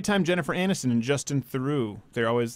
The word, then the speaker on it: Theroux: It's not Theroux. It's Theroux.